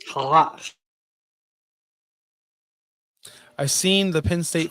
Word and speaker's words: challah: Hala. That's not how you pronounce that, he says. Challah.